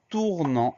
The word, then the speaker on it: tournant: Première syllabe, tour, T-O-U-R, sans surprise. Deuxième syllabe, nan, N-A-N-T. À la fin du mot, donc on a le son en qui s'écrit AN, et ensuite on a une lettre muette, le T qu'on n'entend pas, et qu'on peut retrouver